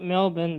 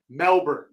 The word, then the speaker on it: Melbourne: Bro, you don't say Melbour. Melbour like Tony Hinchcliffe and this dude I watch on thing. I was right, dude. Melbourne is how it's pronounced.